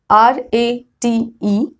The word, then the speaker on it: rate: It elongates the vowel sound which comes before that E. Don't worry, I'm going to explain this. Look at these words. If I say R-A-T-E, rate, E is silent.